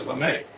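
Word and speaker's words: Lamé: I think that changes the pronunciation from lame to lame.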